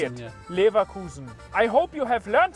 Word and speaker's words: Leverkusen: Then you will know Leverkusen. That is how you say it. Yeah. Leverkusen.